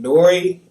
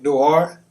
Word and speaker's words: Noir: But once again, his name Nori, or not Nori, Noir. I'll make sure I say that right. How you spell it? Like black. This is Noir.